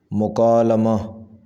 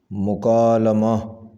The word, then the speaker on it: مکالمہ: اصلاح تلفظ و املا۔ مکالمہ صحیح تلفظ ہے مکالمہ، مکالمہ۔ مقابل اس کا صحیح